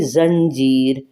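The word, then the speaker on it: زنجیر: के दिखाइए चेन में जंजीर जे नून जन जीम ये जी और रे जो है वो साकिन है साइलेंट है जंजीर अच्छा एक ज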